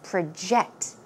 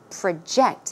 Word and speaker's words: project: actual talk we learn the verb form of project so it's project project okay it means to